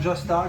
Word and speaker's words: Jasta: Eh bien parce que le producteur qui a participé à l'écriture et qui a participé aux enregistrements, c'est juste Jamey Jasta, ou Jasta comme on prononce, chanteur de Hybrid.